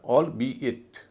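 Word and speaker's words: albeit: इसी तरह ए एल बी ई आई टी ये अलग-अलग सिलेबल का हिस्सा है। इसका मतलब होता है यद्यपि हालांकि यह ऑल बी इट। ऑल बी इट का छोटा रूप है। और इसका उच्चारण भी वैसे ही होगा।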